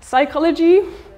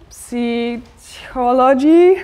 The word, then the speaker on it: psychology: beautiful English examples psychology like if I would think as a learner of English that I would pronounce every letter come join us I would think it would be something like sea ecology or something and then we have